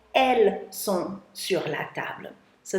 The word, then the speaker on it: elles: If I had two of them, which I don't, I would say elles sont sur la table. So they are on the table. Elles, E-L-L-E-S, still don't pronounce the S, can also be used to replace two feminine noun subjects like people.